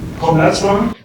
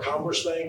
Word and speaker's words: Commerzbank: By the way, Heiko is the CTO of, I'm going to use the German pronunciation, Commerzbank. Or Commerzbank, as some people would say here in America, and so with that,